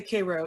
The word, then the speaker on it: Karo: our listeners out there even though we say k-ro it's spelled cairo right that's right for those of